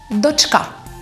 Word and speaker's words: дочка: же Правильно дочка чи дочка запам'ятайте дочка то спотворене під впливом російської мови в українській літературній мові слово дочка має наголос на другому складі а донька на